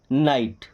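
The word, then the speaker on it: knight: आई जी एस टी भाई के के बाद एन आ रहा है मतलब के तो हमारा साइलेंट हो गया बचा एन आई जी एस टी इसे हम क्या पढ़ेंगे नाइट ओके के एन ओ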